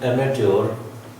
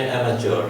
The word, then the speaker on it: amateur: इन जत्रास, इन एमेट्योर, ये जो वर्ड है AMATEUR, यूके प्रोनाउंसिएशन में एमेट्योर है और यूएस में एमेच्योर है। ये चार साउंड है, एमेच्योर, ए साउंड, BAD बैड वाली, एमेच्योर, यहाँ ट साउंड है।